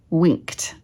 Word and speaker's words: winked: So what sound came before was the k, which dictates that this will be pronounced t.